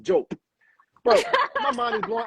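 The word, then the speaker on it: Diop: like his name is we we called him dop growing up because his name is for d i o p whole time we get to synagogue his name is actually pronounced joke bro my mind is blowing I'm like bro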